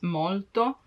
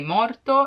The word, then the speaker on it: molto: to use tanto because if you cannot pronounce molto in a perfect way you may be misunderstood and if you say morto it means dead so yeah molto or